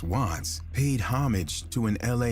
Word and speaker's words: WVTTZ: The name WVTTZ, pronounced Watts, paid homage to an LA neighborhood, while CHII, pronounced C.Hi., signified his affiliation with the Crips, a notorious street gang.